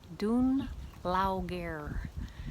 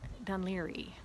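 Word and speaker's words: Dún Laoghaire: what she means uh she pronounces it something like dune laughter and it's done leary i thought oh she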